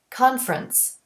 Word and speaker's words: conference: a word like conference most native speakers don't pronounce that middle e we say conference and for reduction the